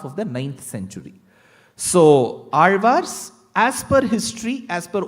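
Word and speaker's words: ஆழ்வார்: attempt is only the Azhwars. Even before I get into the word Azhwar, the word Azhwar itself is a task. Because you will have to get the pronunciation of the letter Ra right.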